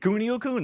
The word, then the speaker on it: Kunio-kun: You got it, Kunio-kun.